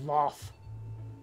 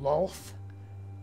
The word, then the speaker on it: Lolth: It's shockingly difficult to pronounce the name as Loth or Loth rather than Lolth, because I did just